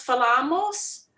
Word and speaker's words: falam: Eu falo, você fala, nós falamos, vocês falam. Falam. Falam. Yes, the stressed syllable is always on the penultimate, before last.